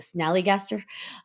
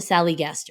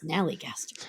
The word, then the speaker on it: snallygaster: I always say it wrong. The snallygaster, and I want to call it the sallygaster. It's a snallygaster.